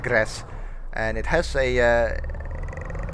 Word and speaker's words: Graz: road saying um saying grass we'll we'll pronounce it as grass If someone knows how it's actually pronounced and let me know okay it's actually like grass and it has a